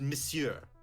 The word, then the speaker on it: monsieur: i not pronouncing it correctly yeah it's it's pronounced monsieur monsieur yeah i've heard it pronounced monsieur the